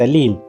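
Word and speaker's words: limb: काय वाटणार कॉमब रंग हा लिंब आहे फक्त लिम इथ बी सायलेंट आहे बी बोलला नेहमी लिंब अस नाही बोलला लिंब अस नाही उच्चार वायचा लिंब लिम बी सायलेंट आहे डम डम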